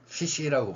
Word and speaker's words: ghoti: 어쨌든 이 사람 이야기를 갑자기 꺼낸 이유는 제가 이 글자를 버나드 쇼는 피시라고 발음을 하는 겁니다.